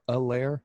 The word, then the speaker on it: Helaire: some other top performers: Deshaun Watson, Pat Mahomes, Clyde Edwards-Helaire or Alaire. I learned last night that the H is silent.